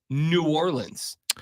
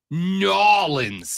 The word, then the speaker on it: New Orleans: intentionally no no no it's not New Orleans we prefer you say it norleans you know people people